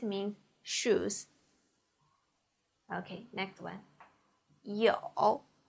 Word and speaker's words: 有: 有 e o with third tongue, 偶 e o 有 e o 有 Please repeat.